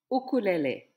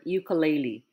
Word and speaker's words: ʻukulele: let's say it together let's try this familiar word oh ukulele and not the commonly mispronounced the word ukulele let's read it together